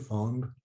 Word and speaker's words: feng: are somewhat new to feng shui just simplify it a bit fang or feng fong as we might say in the west in china it's probably